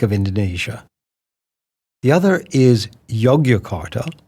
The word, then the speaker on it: Yogyakarta: Indonesia the other is yogart y o g y a k a r ta which is sometimes pronounced jogjakarta which is a different